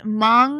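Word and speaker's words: Hmong: It's pronounced m. The the h is silent and m are the group are a group of people that live in Vietnam.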